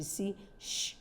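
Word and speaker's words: cease: we see sometimes CH sound or sometimes we see sh sound so you must be careful enough to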